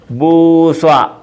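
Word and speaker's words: بوصة: ബൂസ്വ, ബൂസ്വ, ബൂസ്വ. ബൂസത്വൻ എന്നാണ്. ഈ താന് ഉച്ചാരണമില്ല. ബൂസ്വ ഇഞ്ച്.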